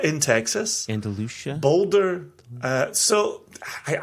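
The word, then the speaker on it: Andalusia: McCarthy in Oregon mhm Andalucia in Texas Andalucia Boulder uh so I I go with the European pronunciation but we can agree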